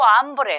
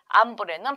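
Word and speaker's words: hambre: 스페인어로 브레라 합니다 땡구 암브레 하게 되면 나는 배가 고파요라는 표현 이고요 발음 하실 때 여기 체라는 글자는 발음이 되지 않기 때문에 묵음으로 처리를 하셔야 되죠 그래서 땡고 브레라 하게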